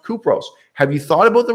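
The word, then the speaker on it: Κύπρος: south of turkey called cyprus in greek pronounced kupros have you thought about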